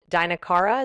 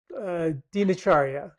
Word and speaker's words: Dinacharya: I believe it's called Dinakara. Is that how you say it? Dinacharya.